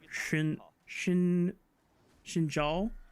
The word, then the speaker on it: Xin Zhao: now we're learning that pronouncing names that start with X is more of a sh sound. That actually changes how you're supposed to pronounce what we Westerners commonly refer to as Xin Zhao, right? I think it's supposed to be like Xin Zhao, which is so